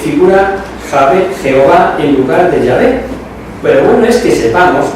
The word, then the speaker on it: Jehová: Editorial Herder, literalmente dice: Jehová, falsa pronunciación del nombre de Yahvé, y así en general.